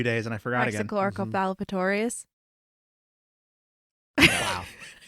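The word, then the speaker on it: Raxacoricofallapatorius: like, oh yeah, I finally memorized how to pronounce their planet. Yeah, but now it's been a few days and I forgot again. Praxichloricopalpatorius. Wow. Praxichloricopalpatorius.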